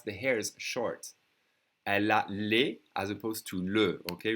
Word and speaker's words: les: Elle a les as opposed to le, okay? Remember the singular is le, pronounce le, and this is les.